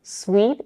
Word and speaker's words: sweet: different is the vowel sweet is pronounced exactly like sweet as in I like my coffee sweet it has the high intense vowel e as in the words sheep and Beach suit is pronounced with